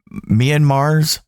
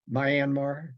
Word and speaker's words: Myanmar: with Guana the subia is that am I pronouncing that right a sabotage off Ireland's Coast uh my myanmar's Mayanmar Myanmar sorry the Myanmar I'm gonna cut that